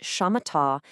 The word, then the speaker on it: shamatha: It's pronounced shamatha, and it's a path of developing your attention.